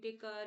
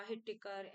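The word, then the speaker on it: Whittaker: हिट इन्होंने दी थी आप टेकर या हिट टिकर ऐसे भी बोल सकते हैं डब्लू एच से स्टार्ट होती है स्पेलिंग तो ये इन्होंने दी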